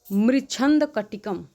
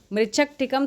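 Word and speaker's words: मृच्छकटिकम: तो अष्टाध्यायी, दूसरा ऑप्शन है चांद्र व्याकरण, सी ऑप्शन है महाभाष्य, डी ऑप्शन है मृच्छंद कटिकम। ठीक है, मृच्छक टिकम, थोड़ा सा प्रोनाउंसिएशन, ये संस्कृत के शब्द ही ऐसे होते हैं।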